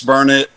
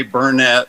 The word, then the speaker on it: Burnet: it Burnett Texas yes it's burn it don't ever say bernet or people around here will get after you about it I know and see